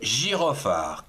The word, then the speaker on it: gyrophare: Le Gira alors Girot G y J. La deuxième syllabe R J. Après, on a comme ici PH PH a fa girofa. Il reste plus que la 4e syllabe. Re r E re. Le girophare. Quatre syllabes du genre masculin.